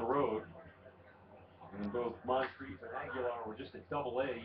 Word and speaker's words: Aguilar: A lot of times you see that name pronounced Aguiar, but in his case it's pronounced Aguilar.